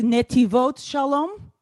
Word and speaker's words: Netivot Shalom: I think it's pronounced Netivot Shalom. Good job.